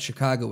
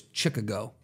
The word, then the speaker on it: Chicago: compare these that so as a kid Jared thought Chicago is chicka go you know it makes sense does it though it